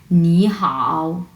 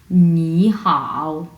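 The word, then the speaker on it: 你好: tone শুধুমাত্র উচ্চারণের ক্ষেত্রে আমরা উচ্চারণের ক্ষেত্রে প্রথম ওয়ার্ডটাকে দুই নাম্বার টোন হিসেবে উচ্চারণ করবো সো আমরা কিভাবে উচ্চারণ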